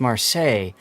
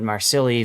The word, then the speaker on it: Marseille: But when it comes to outside, I don't know how many people have told me, Zav, it's pronounced Marseille, even though I called it Marsilli for a joke.